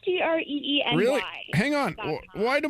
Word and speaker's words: Greeny: It's Greeny.